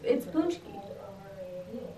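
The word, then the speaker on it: pączki: I think you're pronouncing it wrong. I think it's like Paczki. No, it's Paczki.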